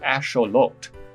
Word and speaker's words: axolotl: of the name axolotl turns out it's derived from the ancient aztec language nawatol and is actually pronounced asholot it can be loosely